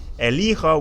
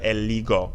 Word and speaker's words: elijo: In the yo form, if we have a G here, if we have a G here, it's pronounced go. Instead of elijo, we have eligo.